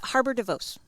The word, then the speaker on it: Harbour de Vos: Harbour de Vos.